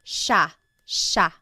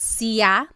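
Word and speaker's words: siya: It looks like it should be pronounced cia, but it's actually pronounced sha sha. There are some regions in the Philippines that might pronounce it sa but for the most part in the central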